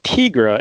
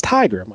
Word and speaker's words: Tigra: and you keep saying tigra is that the canadian way to pronounce it it's tiger i always thought it was tigra it's tiger like a tiger are you sure about